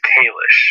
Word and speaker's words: Kalish: Every kiss begins with K, and every kiss begins with K, and then it rhymes with the first syllable of Fishback.